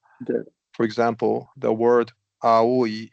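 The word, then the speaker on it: 青い: For example, the word aoi is pronounced as aoi in three separate morae.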